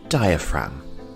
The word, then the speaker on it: diaphragm: lungs we have the diaphragm and the g here is silent diaphragm our next body part